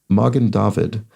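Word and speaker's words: Magen David: Jersey Dragon traces explains Morgan David stress on the first syllables of both words um means Shield of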